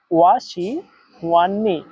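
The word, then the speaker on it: 我喜欢你: আমি তোমাকে পছন্দ করি এর চাইনিজ হচ্ছে ওয়া শি হুয়ান নি। এবার আপনারাও আমার সাথে উচ্চারণ করেন, ওয়া শি হুয়ান নি। ওয়া শি হুয়ান নি, আমি তোমাকে পছন্দ করি।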